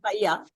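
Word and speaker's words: paella: pronounce it paya.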